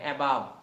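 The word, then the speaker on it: above: দেখবেন বলতেছেন এবভ এবাব এবভ বলা যাবে না এবাব এবা এবাব এবা হুম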